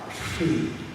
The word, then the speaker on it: Hri: For say At a Bodhicitta, the syllable is Shri, H-R-I, Shri.